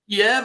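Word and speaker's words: Kyiv: done yet can't take Kev and keep it I say k because I don't buy this about changing pronunciation of things he can't take keev and keep it he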